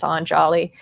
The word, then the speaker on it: Anjali: Um and Angelia incidentally hails from anali which is um or anjali um I I you know I have no no preference. Um my understanding is the original pronunciation is anjali.